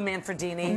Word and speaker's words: Manfredini: He's got a name that rhymes with Lamborghini. Oh, very nice. Very nice. That is good. Yep. Hi, Lou Manfredini.